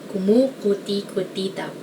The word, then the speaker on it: kumukuti-kutitap: So I guess the hard part of this is like the vowels, because like it's mostly u, but there's like I and somewhere. Kumukuti-kutitap. I guess the only way to pronounce this is to remember all the syllables.